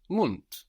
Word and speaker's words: Mund: In the same way, the word for mouth in German is Mund. This is spelled M-U-N-D.